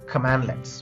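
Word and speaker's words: cmdlet: In PowerShell, commands are called as commandlets, pronounced as command-let.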